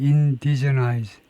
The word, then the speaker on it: indigenize: 발음을 확실해 보겠습니다. 액센트 위치를요. 두 번째 음절에 액센트가 있는 것 같은데 indigenize.